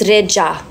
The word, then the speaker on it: Rexha: But yeah, my surname is Rexha, but the X and the H, my bad, is like a J. Ja. So Xha is Ja. So it's Reja. So that's how you pronounce it. So you basically pronounce it like Reja.